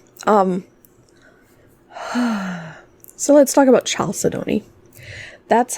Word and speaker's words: chalcedony: whoops not coda says i've been saying al said me calced me yeah that's not how that's pronounced chalcedony chalcedony um various oftentimes organic